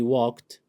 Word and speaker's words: walked: He walked, walk ed, but the pronunciation, of course, this is t sound.